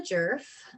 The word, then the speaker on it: Djerf: my name is jerf um the d is silent if you're looking to